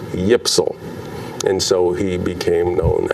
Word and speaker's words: YPSL: league the s ypsl if you try to pronounce those initials y p s l you get yipsal and so he became